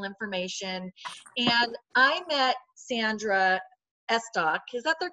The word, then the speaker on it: Estok: And I met Sandra Estok. Is that the correct pronunciation, Sandra?